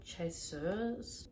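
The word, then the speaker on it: Chasseur: a part of the they like called chessur that's how you pronounce it and he's like the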